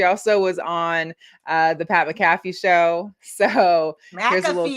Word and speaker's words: McAfee: No, it's MCAFEE. That would be McAfee. Like McDonald's.